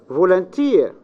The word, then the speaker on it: volunteer: the second uh-huh yes volunteer the stress is the last syllable mm-hmm yes next Japanese